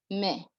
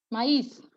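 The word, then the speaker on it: maïs: Normally we have MAI that says me. But when you have the tremor on it, you can't say me anymore. You're gonna say maize.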